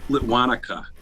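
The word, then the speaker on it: Lituanica: And for the record, it's Litwanica. Pronunciation.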